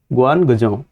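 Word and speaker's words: Guangzhou: ग्वानजोंग, ठीक है। उसका प्रोनाउंसिएशन में प्रॉब्लम होगा, लेकिन बस इतना याद रखो, गुआन पहले कर दो इसको और फिर गजों, गुआन गजों, ठीक है।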